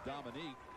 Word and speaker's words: Dominic: Well, you see the way his name is spelt, like most Dominics are spelt, but it's pronounced Dominique, and that's because he admired Dominique Wilkins so much.